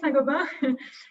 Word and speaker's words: Saint-Gobain: with you uh so sargoban i'll pronounce with the french ways nagoba is a worldwide leader